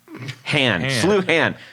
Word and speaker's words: Sluhan: Sincerely, John Sluhan, pronounced like St. Louis University's abbreviation of SLU and Han, or Han, ham, like ham with an N. Sluhan.